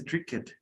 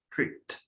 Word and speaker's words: tricked: español y cuando escuchamos pareciera que dice trick it, play it, miss it. No. La E es muda y la última letra es la que se pronuncia, aunque sea consonante. Missed, tricked, played.